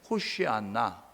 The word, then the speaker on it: 호시아나: 이게 이제 헬라어식 발음이고요, 히브리식으로는 뭐냐면 호시아나 이렇게 하는 거, 호시아나 이렇게 이야기하는데, 이 호시아나는 호세야 플러스 나로 해서 호시아나라고 그렇게 이야기하게 되어지는 것입니다.